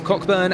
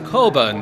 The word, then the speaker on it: Coburn: And then it will be Chris Cochburn and Ross, excuse me, let me take a breather. That's not how you say his name. It's Chris Coburn there.